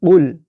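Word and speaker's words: قُلْ: ভিডিওর মূল আলোচনা, তো এখানে কুল বলা যাবে না, এখানে বলতে হবে উল। অর্থাৎ কয়ের নিচে আমরা ব দিয়ে যে উচ্চারণটা বুঝাই, এখানে বলতে হবে উল। অর্থাৎ এটি হলো সঠিক, আমাদের এই উচ্চারণটা সঠিক এবং এই উচ্চারণটা ভুল।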